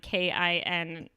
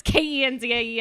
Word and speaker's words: Kenzie: Kinsey. I was like, no, it's Kenzie.